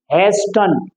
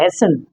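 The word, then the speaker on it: hasten: टी एन आएगा तो बहुत सारे बच्चे बोलते हैं इसको हैटन लेकिन ये ध्यान रखना है कि अगर लास्ट में वर्ड के लास्ट में टी ई एन आ जाता है तो टी को हम साइलेंट रखेंगे और इसी तरह से य होगा हैसन जिसका हिंदी में मतलब होता है जल्दी और यह वर्ड जिसकी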